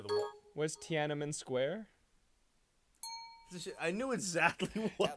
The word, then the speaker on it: Tiananmen: It's Tinian Square. I don't know how to say it. You saying it wrong? Tinian Square. It's not even close. I don't know how to say the word. Where's Tiananmen Square?